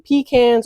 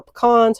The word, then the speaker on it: pecan: I have roasted cashews have some peans or pecans however you like to pronounce it I have some walnuts